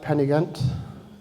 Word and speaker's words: Pen-y-ghent: Am I saying it right, Pen-y-Ghent?